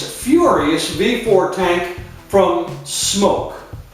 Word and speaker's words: SMOK: Furious before tank from smoke or is it smuck I've heard it both ways I prefer to pronounce it smoke I could be wrong